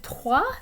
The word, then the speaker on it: trois: And notice that normally trois, the S is silent at the end.